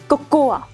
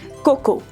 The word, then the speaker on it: cocoa: Number 2, cocoa. No, my friends, it is cocoa.